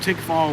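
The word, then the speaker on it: Tickfaw: more popular areas but where i grew up tick fall louisiana you can google it it's spelled t-i-c-k-f-a-w it's got one red light three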